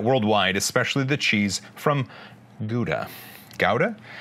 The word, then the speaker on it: Gouda: And cheese, the Dutch are well known for that worldwide, especially the cheese from Gouda. Gouda? It's Gouda cheese, right? Gouda? G-O-U-D-A, Gouda. Try to pronounce that.